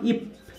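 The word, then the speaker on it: 입: তারপর লক্ষ্য করুন নিচে বসে কি বললাম আমরা প, তাহলে এটা কি হবে উচ্চারণ ইপ।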